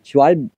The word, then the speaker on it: Schwalbe: Schwalbe.